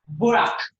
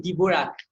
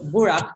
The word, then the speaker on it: Dvorak: Yeah, because the D is silent. You cannot be saying Dvorak. No, it's not okay. It is Borak. That is the D silent, okay?